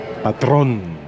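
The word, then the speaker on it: Patrón: see that that is the accent in Spanish means at the end of the word you have to pronounce it harder Patron and that is the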